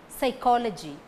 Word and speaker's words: psychology: last bee is silent psychology first p is silent right first letter w